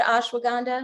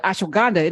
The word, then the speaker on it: ashwagandha: So ASH, ash, WAG, you wag, and AND, ha, HA, ha ha.